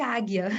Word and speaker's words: Ajna: A pronúncia é de águia. Eu acho super lindo, mas em sânscrito escreve A-J-N-A, Ajna, mas lê águia, que J é G mudo em sânscrito.